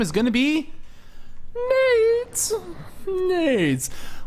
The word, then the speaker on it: NAIDS: NAIDS. Which I like to think as grenades, not what his name is spelled as. So I'm not offensive. NAIDS.